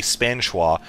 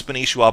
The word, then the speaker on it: Spanishiwa: Uh, people are angry at me because they feel like I'm mispronouncing his name, which they say should be Spanwa. Well, I just want to clarify his name actually is Spanishwa, but due to the